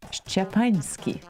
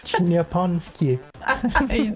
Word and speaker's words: Szczepański: Okay, try to repeat after me. Zbigniew. Zbigniew. Perfect. Szczepański. Nanski. Szczepański. Japanski. No, not Japanski.